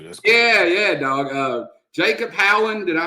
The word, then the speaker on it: Howland: Jacob Howland, did I pronounce that correct?